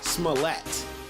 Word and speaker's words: Smollett: Apparently, it's Jussie Smollett. Mm-hmm. It's Smollett, like Tarjay. It's real fancy.